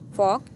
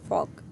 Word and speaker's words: fork: फॉर्क, FORK, फॉर्क, इसमें आर नहीं पढ़ते, खाली सिंपल हम आर को साइलेंट करते हैं, फॉर्क।